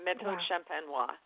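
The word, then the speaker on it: méthode champenoise: This sparkling wine is produced in that method, the champenois, however you pronounce it. Do that again. Méthode is either méthode traditionnelle, traditional method, or méthode champenois.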